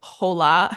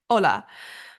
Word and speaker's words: hola: any language for example hola has an H but you don't pronounce it you don't say hola you say hola but then a word